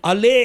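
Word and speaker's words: עלה: मुली सलवांगे पत्तों को इब्रानी भाषा में क्या कहेंगे अले अब सलवांग अले ऐसा कहना है अले अब सुन और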